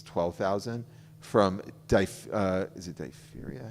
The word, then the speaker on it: diphtheria: They all die, thousands of them, I think it's 12,000, from is it diphtheria? How do you pronounce that?